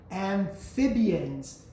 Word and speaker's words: amphibians: Amphibians, you have a PH there, which produces the F sound.